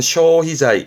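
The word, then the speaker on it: 消費財: 발음은 쇼희자이. 쇼희자이 말 그대로 소비.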